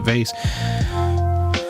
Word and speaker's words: vase: pronunciation of vas uh about half of America pronounces it vas and about half of America pronounces it vase I I didn't know